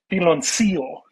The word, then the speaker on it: Piloncillo: This is Piloncillo is how it's pronounced.